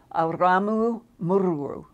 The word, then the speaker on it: Aramu Muru: one of those pronunciations, and it's Aramu Muru. It's, roll your R's in it.